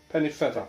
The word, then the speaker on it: Pennefather: to cap that, grandfather was Somerset Pennefather. Yes. How do you say the name? Pennefather. Pennefather. Yes, it's pronounced Pennefather, although it's spelt father.